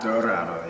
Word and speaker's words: Dorado: Dorado, yes.